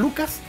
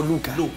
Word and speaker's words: Luka: ¿Lucas o Luca? Luca. Lo que pasa es que me inscribieron mal en el registro civil porque en Croacia la C se pronuncia C. O sea, yo sería Lutzas.